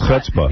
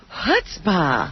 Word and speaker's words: chutzpah: It's chutzpah. Yeah, it's chutzpah.